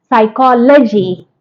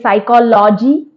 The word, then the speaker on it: psychology: Psychology. We may say psychology. No, it's psychology.